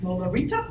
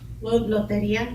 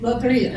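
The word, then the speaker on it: Lotería: Loteria. Loteria. See, I never said it right.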